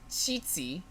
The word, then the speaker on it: Qixi: yes okay yes so the holiday is called cheatsy and how do you spell it Qixi Oh TC she's yeah